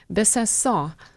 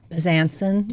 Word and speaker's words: Besancon: you first to Besancon. Very nice. Which is the perfect French pronunciation. But in Connecticut, how do they say it? Besancon. Besancon.